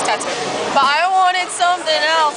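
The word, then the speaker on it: t.A.T.u.: she said by tattoo or how you pronounce her name it's tattoo but i wanted something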